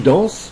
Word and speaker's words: danses: Dans tu danses, le S à la fin ne se prononce pas.